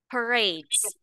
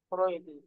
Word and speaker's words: parades: thousands whole lots lots parades pares parades pares uh this one is parades no parades parades ah don't say this this say parat two two syllables parades parat R yes